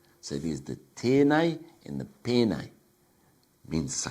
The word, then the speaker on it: tēnei: from those particular areas, they would pronounce this as penei, Penei. However, every other region around, or most regions around the country, if they were talking about the word this, they would say tēnei.